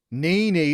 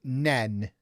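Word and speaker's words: Nene: Nini is a good shout, but it isn't what they say. There you go. We have a winner. They pronounce it nen.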